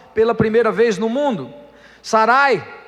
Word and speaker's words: Sarai: Sarai, a sua esposa, ou Saraí, em uma outra pronúncia, mas com a mesma escrita, que significava minha princesa, algo relativo ao papai e à mamãe, né?